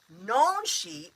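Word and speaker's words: Nanshe: So, nonshi. N. Nonshi. Looks like Nancy, like Nancy, you know, but it's Nonshi.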